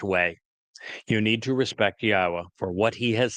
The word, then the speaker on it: Yahweh: Al Benyim Yahweh, which is the proper pronunciation of the name of our Eloah, God, as directed by his Torah teaching regarding his Haya existence.